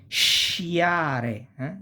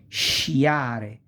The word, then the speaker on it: sciare: E, or Italian E, you have sh, the sound sh, like scelta, choice. Sciare, SC plus I, sciare, to ski.